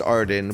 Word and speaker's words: Arden: another place out here called pronounced ardan but it's a r d e n this is just R